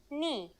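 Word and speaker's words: νι: letter today is a consonant knee yes pronounced just like the knee on your leg its sound in greek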